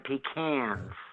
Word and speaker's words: pecan: So I started selling Famous Amos, his pecans, or as he pronounces them, pecans. And I started selling him for his chocolate chip cookies.